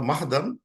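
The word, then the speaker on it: مهادا: এই মাহাদান এখানে এসে একটা ভেরিয়েন্ট রিসাইটেশন আছে, সাম উইল প্রোনাউন্স মিহাদান, মানে এই বানানটা এইভাবে লেখছে, এই বানান লেখা আছে, এইভাবে উচ্চারণ করে। এই যে মিহাদান, মাহাদান লেখাটা কিন্তু মাহাদান, কিন্তু এই হারাকাগুলো ডিফারেন্ট ভাবে প্লেস করে দিলে ইট প্রোনাউন্সেস মিহাদান। So there is another pronunciation of this, means the same thing.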